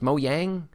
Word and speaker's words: Mojang: I know that lots of people probably already know this, but Mojang is actually pronounced Mojang.